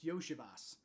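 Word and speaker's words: Iosivas: takes the fun yeah his name isn't actually Yoshi that's just what we call him because his last name's hard to pronounce right but it's yosias so you just call him Yoshi right but no it's it's Andre yosias he's it's like a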